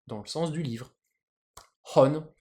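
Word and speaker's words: 本: Hon. Du coup, un livre, ça s'écrit comme ça, et ça se prononce, en sino-japonais, hon.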